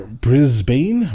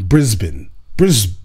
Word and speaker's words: Brisbane: percent of rental property bro you're not pronouncing the a uh Brisbane Brisbane Brisbane I got it let's get it in